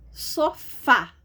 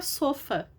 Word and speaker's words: sofá: Sofá. Se eu tiro o acento do sofá, fica sofa.